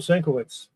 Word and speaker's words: Sienkiewicz: Another one of my favorite artists, Bill Sienkiewicz.